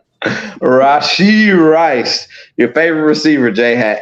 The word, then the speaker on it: Rashee Rice: And names it rhymes with Lachi Nice. Rashee Rice, your favorite receiver, Jay, had 8 catches for 107 yards and a touchdown.